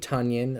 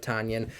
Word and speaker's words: Tonyan: Bay Packers names wrong I always say Romeo uh dubs instead of Dobbs Robert tanyon like onion instead of Tanya um I guess I